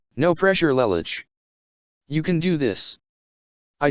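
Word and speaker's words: Lelouch: Lamparog Lelocher. It's pronounced Lamperouge Lelich, I correctly calmly.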